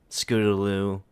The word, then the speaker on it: Scootaloo: yeah apple bloom um scootaloo three syllables three syllables scooter lose one word technique yes yeah scootaloo is one word although it's technically hyphenated